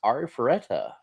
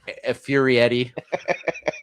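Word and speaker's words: Arifureta: My number 2 is Ari Ferretta. So Is that how you're saying that? Yes. Okay. Yep. You want to pronounce it for me? I was saying it all wrong. I was like Furietti.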